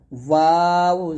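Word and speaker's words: و: ওয়াও পেশ ভু, ভু, দুই ঠোঁট মিলবে না, ঠোঁটের মাঝখানে ফাঁকা থাকবে, ঠোঁটের মাঝখানে কি থাকবে, ফাঁকা থাকবে। ফাঁকা রেখে আপনাকে ওয়াওটা উচ্চারণ করতে হবে। দুই ঠোঁট যদি আপনার মিলে যায় তাহলে বুঝে নেবেন আপনার ওয়াও উচ্চারণ হচ্ছে না। দুই ঠোঁট মিলে গেলে আপনার ওয়াও উচ্চারণ হবে না, জিন্দিগত হবে না, ঠোঁটের মাঝে অবশ্যই ফাঁকা রাখতে হবে। আর এটা হলক থেকে নিয়ে আসা যাবে না, এটা দুই ঠোঁট থেকে উচ্চারণটা আনতে হবে।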